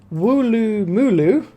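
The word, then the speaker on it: Woolloomooloo: We've got Wooloo Mooloo. That's how you pronounce that one.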